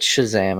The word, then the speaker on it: Shazam: couldn't Kazaam it Shazam I don't care what anyone says the K is not typically pronounced with an SH sound but if you're not